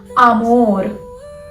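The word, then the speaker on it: amor: तो मैं कैसे यहां पे आ को प्रोनाउंस कैसे कर रही हूं? ए को प्रोनाउंस कर कैसे रही हूं? आ की साउंड में। आमोर।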